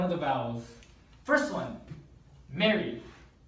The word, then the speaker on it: Mary: First one, Mary. Mary. Yes. Mary is this vowel, and it's this vowel is front, low, mid, unrounded vowel.